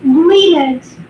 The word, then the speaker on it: Grignard: Yeah, like gray and nerd. I understand now. You're thinking about how to say it. While the spelling includes Gnard, the usual pronunciation is like grin with a soft G, and then yard, almost like grin yard, not green eggs.